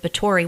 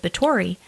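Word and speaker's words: Báthory: uh ctis Elizabeth of bori which it's b a t h o r y but the th is spelled with a or sounded out with a t Countess I never know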